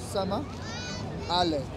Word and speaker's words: Somali: What you don't understand is, the word Somali comes from Somalia, and Somali comes with two syllables, which is Sama, Ale.